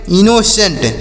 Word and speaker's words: innocent: INNOCENT, तो आई से पढ़ेंगे ई, और NN से पढ़ेंगे न, और ओ का उच्चारण ओ की मात्रा के रूप में, सी का हो जाएगा श, ई से एक ही मात्रा पढ़ेंगे, एन से नो, टी से टो, तो से पढ़ेंगे इनोसेंट।